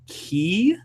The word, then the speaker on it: kei: visual type or visual kei. So it's I think it's KEI, and it probably is pronounced something similar to key.